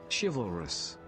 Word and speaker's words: chivalrous: The 4 houses are called Gryffindor, the Brave, and how do you pronounce this word, guys? Chivalrous.